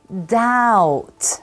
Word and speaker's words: doubt: That's right, we say doubt. Okay, that's the pronunciation. Doubt, no. Doubt. Excellent.